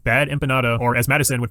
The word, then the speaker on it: empanada: That is until she utters the name bad empanada, or as Madison would pronounce it, bad empiñata.